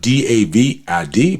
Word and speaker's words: David: It's spelled D-A-V-I-D, but it's pronounced David.